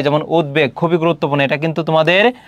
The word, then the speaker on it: উদ্বেগ: উদ উপসর্গের সঙ্গে ব থাকলে ব উচ্চারিত হয়। যেমন উদ্বেগ খুবই গুরুত্বপূর্ণ।